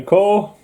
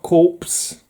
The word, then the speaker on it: Corps: run green out the core and remember kiddies it's core not corpse we're not seven anymore not 10 years old first seeing this on the shelves and saying green lantern corpse it's pronounced core they don't ask me